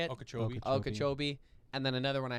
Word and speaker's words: Okeechobee: it was okiecho how do you say it okeechobee and then another one i hadn't heard of